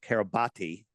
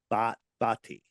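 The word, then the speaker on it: Kiribati: registered to the nation of Kab Carab I'm gonna pronounce it the spelled carabati and um and we're like where the heck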